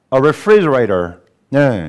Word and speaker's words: refrigerator: 어 들어가 보겠습니다 자 refrigerator네 일단 발음을 좀 조심해야 되죠 a refrigerator네 refrigerator이 F 사운드는로 밀면서 윗니가 아래을 이렇게 밀면서 힘을 좀 모아야 돼요 그다음에 터트려야 됩니다 frederator 이렇게 돼야지 가만